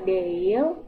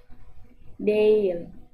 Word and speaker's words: değil: Pengucapannya kurang lebih seperti kata değil, yang seolah-olah ada kata Y-nya. Namun, supaya lebih mudah untuk mengingat, bahwa anggap G-nya ini tidak ada, alias samar sekali.